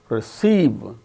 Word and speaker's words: receive: is followed by her in the word perhaps receive examine so in the case of all these six words the second syllable is a stressed and the remaining syllables are not stressed so which syllable gains